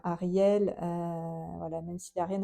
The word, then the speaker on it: Hariel: mais bizarrement, donc déjà son nom s'écrit avec un H. Avant le A, il y a un H, H-A-R-I-E-L, voilà, Ariel, voilà, même s'il n'a